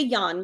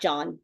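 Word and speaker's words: Jöns: Well, it would be Yan because he's Swedish. So, he's not John. He's Yan. Yan Yakob.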